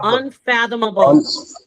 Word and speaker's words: unfathomable: You say un then you say fathom and you sayable. Unfathomable.